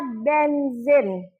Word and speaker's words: benzene: Kemudian ada benzin. Benzene tulisannya di sini, bacanya benzin.